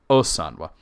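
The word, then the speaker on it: Ósanwe: oan not oan because there's an accent over the O that gives an exception to the the the way that Elvish is usually said so oan um but the existence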